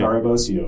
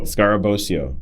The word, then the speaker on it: Scarabosio: I say it right I I said it scarabosio scarabosio sorry if I mess that up he is